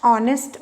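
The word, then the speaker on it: honest: university और amazed S ऑनेस्ट man point system होता है मगर मैंने आपको बताया कि एच साइलेंट है वह हमारा स्टार्ट हो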